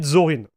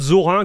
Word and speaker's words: Zorin: into zorin OS so I'm going to pronounce it zorin and not Zoran because Zoran will be the French one of seeing it hi there take